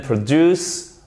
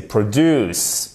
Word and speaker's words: produce: We didn't produce much rubbish. Et vous faites attention ici, ce n'est pas un accent tonique sur la première syllabe, ok? C'est produce et pas produce, mais produce.